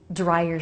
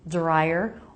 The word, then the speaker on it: dryer: Dryer sheets. Remember, you can make this word with a D sound, dryer, or a J sound, dryer.